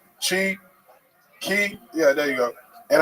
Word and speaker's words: Qi: Q Chi Key.